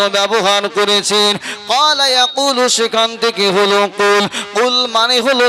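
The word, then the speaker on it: قُلْ: দিয়ে কথাটা বুঝুন ওই কুল শব্দের জায়গাটায় কেউ যদি বড় কফ উচ্চারণ না করে ছোট কাপ উচ্চারণ করে অর্থাৎ কুলের জায়গায় যদি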